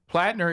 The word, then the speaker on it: Platner: Um he says that actually, is it Platner? Is how you say it? Yep. Platner is actually a hero